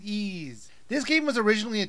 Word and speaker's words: Ys: have to comment that even though the game looks like it should be called wise they pronounce it ease this game was originally